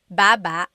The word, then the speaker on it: baba: could be ba chin baba. Emphasis is on the first syllable. Baba. Then there's baba baba. Emphasis is on the second syllable syllable. That means to go down. Baba, like going down an elevator.